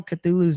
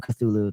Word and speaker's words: Cthulhu: Our depiction of how we say it, Cthulhu, is not actually how you say it.